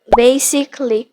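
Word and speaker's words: basically: from Noakhali শব্দটা কি বেসিক্যালি হবে না বেইসে বেসিকলি বেইসেলি রিপিটলি আচ্ছা আমরা বলি ডেবুট ডেবুট ওকে এই শব্দটাকে কিভাবে উচ্চারণ করবো ডেইবিউ কি বলবো ডেইবিউ ডেইবিউ ডেইবিউ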